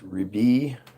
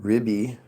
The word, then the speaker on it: Rebbe: The word can be pronounced Rebbe. Sephardic friars can pronounce it Ribbi.